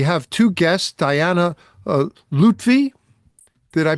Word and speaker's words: Lutfi: Um uh we have two guests, Diana uh Lutvy, did I pronounce that right?